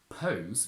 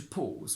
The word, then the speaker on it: pause: have the verb to pause which means to take a break careful it's not pronounced as Pals and it's not pronounced as POS because POS means HIV